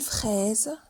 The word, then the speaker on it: fraise: Une fraise, ça s'écrit avec un seul S et ça se prononce Z.